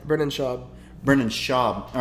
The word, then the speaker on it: Schaub: Brendan Schaub's liking our story like 6 times.